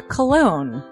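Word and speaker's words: Colon: it it is a self-published book by Christopher cologne cologne smells good to me look at her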